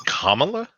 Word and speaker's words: Kamala: I think it's Kamala. Kamala. It's like Kamala, like a comma, like Kamala.